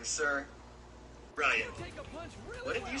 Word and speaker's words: Ryan: Ryan. What did you say? I don't think I heard you. Did you say Reagan? Ryan. Rogan. Am I pronouncing that right? No, Ryan. R-Y-A-N.